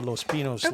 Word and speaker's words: Los Pinos: it was in the los pinos land grant and which is pronounced without the tilde and you're confusing that